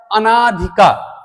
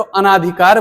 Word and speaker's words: अनधिकार: जैसे एक शब्द होता है अनाधिकार। अब जो अनाधिकार है यह शब्द अशुद्ध है, बहुत सारे लोग उच्चारण करते हैं तो अनाधिकार बोल देते हैं। यह अनाधिकार नहीं होता है, यह अनधिकार होता है।